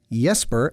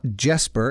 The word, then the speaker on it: Jesper: the composer jesper kidd he's danish so that's yesper not jasper in case this is the first time you've ever heard it pronounced out loud he is known for